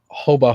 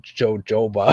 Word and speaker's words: jojoba: of others vitamin E hobah hoba I realized I've been pronouncing that wrong yeah I thought it was hoba I thought it was hoba too I've been calling it jojoba jooba you could be